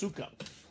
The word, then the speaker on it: Sukup: I did find out it's pronounced sukup not suup stepen so that is